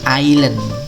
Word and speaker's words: island: pulau tulisannya kynan Mun esnya disitu sailand dia tidak dibunyikannya Bacanya adalah aylen ya kemudian negara Islandia